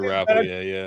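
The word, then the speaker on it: Rappleyea: Yeah, Andrew Rapale, yeah.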